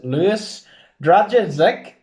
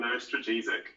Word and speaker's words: Lewis Dragisic: His name is Lewis Dragisic. Hello, Lewis. That's not how it's pronounced. Hello, I am Lewis Dragisic.